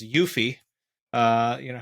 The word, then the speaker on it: UEFI: of the uefi or what i'll pronounce as yuffie uh you know how